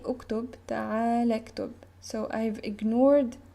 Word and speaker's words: اكتب: I would tell him, uktub. You see, this is the sound of this line, and I began my sentence with u, and u is pronounced here.